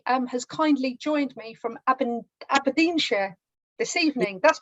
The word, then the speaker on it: Aberdeenshire: I'm from BootyFit, and Zoe has kindly joined me from Aberdeenshire this evening. That's pronounced correctly, isn't it? That's correct, Aberdeenshire, but not a very Scottish accent.